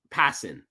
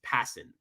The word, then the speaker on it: Passan: Pronounce Pisson. Passin.